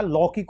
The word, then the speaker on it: लौकिक: विकास विकास नहीं विकास लैक नहीं होता लौकिक होता है यहां पर भी औ की मात्रा आएगी ल लौकिक ये आएगा पथव नहीं होता है